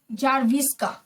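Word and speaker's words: Czerwińska: तो बच्चों यहाँ पे सी जो है वो साइलेंट है, ठीक है, सी जो है वो साइलेंट है। इसको हम लोग नाम क्या पढ़ेंगे? आना, ठीक है, आना जारविस्का, जारविस्का। इसके अंदर सी और एन जो है साइलेंट है यानी चुप है, उसको हम नहीं पुकारेंगे।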